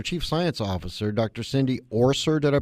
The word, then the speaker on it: Orser: Cindy Orser. Did I pronounce it correctly?